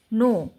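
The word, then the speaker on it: know: কে এন ও ডব্লিউ নো কে এন ও নো ও নো ডব্লিউ এর উচ্চারণটা হবে না এখানে নো এইচ ও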